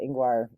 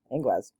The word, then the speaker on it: Ingwaz: So, Ingwaz, and it's spelled different ways, and some people call it Ingwar, but I call it Ingwaz.